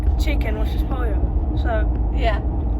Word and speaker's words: pollo: The only word I knew was like chicken, which is pollo. So yeah, right, and then how you pronounce it?